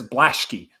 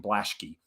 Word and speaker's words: Blaschke: be that dude but Austin blaschke I think is how you say it Austin Brooks says blashke is how he is I guess I'm gonna hop on that train and go with Austin blaschke and he's really asserted